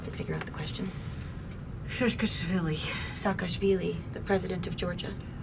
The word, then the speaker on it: Saakashvili: One, while it's playing and Saakashvili is being said, Nicole's lips were moving to pronounce Saakashvili the right way.